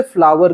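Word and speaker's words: flour: पिसा हुआ अनाज जो होता है ना उसे फ्लावर कहते हैं एफ एल ओ यू आर ये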